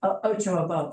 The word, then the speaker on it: Ochoa: Ocha, something Ocha. Ochoa. Yeah, how do you say her name? Ochoa. Ochoa, okay.